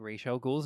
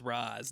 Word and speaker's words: Ra's al Ghul: Thank you for saying Ra's al Ghul's name right. Well, there's a lot of debate now because people are saying it's Raz now, Thank you, Chris Nolan.